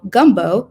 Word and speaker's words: Gumbeaux: She is currently planning to launch a sweet red blend named after the iconic gumbo dish called gumbo, which is spelled Gumbeaux.